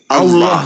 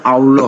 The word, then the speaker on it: Allah: Maka saya membacanya sesuai dengan kaidah Allah itu Allah tuh, Bang. Bahasa Arab, Bang. Makanya Allah.